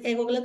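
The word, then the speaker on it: égloga: Y también lo mismo, seguramente en egogla también es esdrújula, porque en la tercera sílaba está la mayor fuerza de voz, egogla, por eso su tilde, ¿no?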